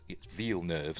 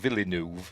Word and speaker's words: Villeneuve: Direct Denny V nerve uh V nerve not villu as I've heard some people pronounce it V nerve explains why